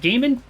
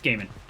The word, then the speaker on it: Gaiman: But Gaiman, it's Gaiman.